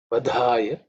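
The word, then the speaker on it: वधाय: So they aspirate. So they have to be tell with pronounced with a bit of extra air and some stress.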